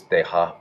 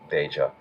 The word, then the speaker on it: Deja: I think the actual pronunciation of his name is Deja, but sometimes he just pronounces it Deja.